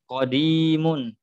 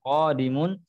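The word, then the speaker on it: قديم: qodimun sudah lama ya bukan qodimun ya Akan tetapi cara membacanya adalah qodimun ketika kita mengambil membacanya khodimun maka ini akan memberikan arti yang berbeda ya kemudian Iya yang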